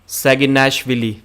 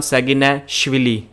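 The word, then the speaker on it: Saginashvili: pronouncing it correctly levan saginash willy so i have heard that the more emphasis should be given on shively not villi so levan sagina shively is this the correct pronunciation please let me know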